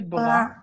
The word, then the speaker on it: brun: Se pronuncia bra. Il est brun. Il est brun. Elle est brun. Aquí se pronuncia brun. Ah, brun. Esto sí es como, cambia un poquito. Il est brun. Elle est brun. Bra, brun. C'est la prononciation.